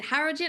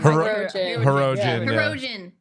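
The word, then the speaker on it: Hirogen: vians yeah God the is it hogen I always say it wrong heroen yes just nightmares I was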